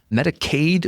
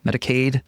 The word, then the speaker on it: Medicaid: In case you confuse Medicaid and Medicare, Medicaid rhymes with paid because it's means-based.